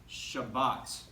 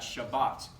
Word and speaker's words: Shabbat: we have like this Sephardic communities would pronounce this Shabazz and by and large in Israel Israelis would pronounce that Shabbat however if you go to an Ashkenazi community they're gonna say Shabbos chavos and you might